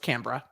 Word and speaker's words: Canberra: hard for me uh canberra is pronounced canberra sorry i want to